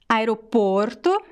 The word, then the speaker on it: aeroporto: Aeroporto, aeroportos. So the first column is closed and the second column is open sound, okay?